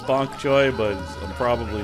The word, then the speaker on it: bok choy: Also, someone mentioned that I've been saying bok cho instead of bok choy. And they're like, I don't want to be rude in case it's your accent. No, it's not my accent. I just read things incorrectly and mispronounce them all the time. I'll try to remember that it's bok choy, but I'm probably not,